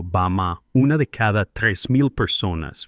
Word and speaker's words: Bama: Mientras tanto, en un remoto valle en el sur de China llamado Bama, pronunciado Bama, una de cada 3,000 personas vive más de 100 años activos musculosos trabajando en los campos cargando agua.